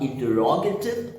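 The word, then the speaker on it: interrogative: और तीसरा होता है इंटरोगेटिव, इंट्रोगेटिव नहीं, वो फिर प्रोनाउंसिएशन में मजा नहीं आया, तो इसीलिए हम कहेंगे इंटरोगेटिव, इंटरोगेटिव।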